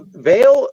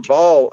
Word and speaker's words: Baal: Well, well, Veale or Bal, however you want to pronounce it, just basically means Lord.